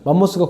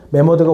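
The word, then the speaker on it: 매머드: 만모스가 콩글리지. 오케이? 메머드가 올바른 표현이고. 자, 메머드 만머스 똑같은 거야. 그래서 우리는 정식 명칭으로 메모드라고 부르면 됩니다. 자, 신생대 때는 지금은 메모드 있어? 없어? 없어. 메머드의 조상인 아, 조상이래.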